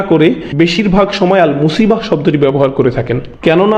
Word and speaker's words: মুসিবাহ: এরপর আবার শব্দটি শেষে রয়েছে তা মারবুতা, যে জন্য আমরা মুসিবাহ উচ্চারণ করি, মুসিব না কিন্তু।